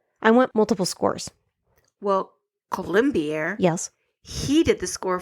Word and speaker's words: Colombier: Michael Colombier?